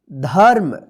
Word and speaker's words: धर्म: रेफ की मात्रा है तो इस रेफ की मात्रा का उच्चारण कब होगा ध के बाद आधा र होगा देखिए म पर नहीं होगा जिस अक्षर पे लिखा रहेगा उस अक्षर पे नहीं होगा उस अक्षर से पहले जो अक्षर रहेगा उसी अक्षर के बाद जो है ना आधा र का उच्चारण होता है ठीक है जैसे यहां